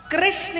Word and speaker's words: कृष्ण: कृष्ण कहने में जीभ घूमती है।